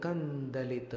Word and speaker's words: कंदलित: भक्तामर प्रणत मौली मणिप्रभाणा मुद्योत कंदलित पाप। कंदलित अनुस्वार का उच्चारण देखिएगा, हर जगह म नहीं ठोकना।